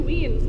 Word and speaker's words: Wien: We're going to Wien. That's how you say it in Vienna.